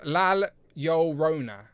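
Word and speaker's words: La Llorona: Cute Cool says it's pronounced Lal Llorona.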